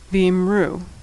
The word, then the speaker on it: V'imru: V'imru also ends with a Vav, this one in the form that's pronounced U, V'imru.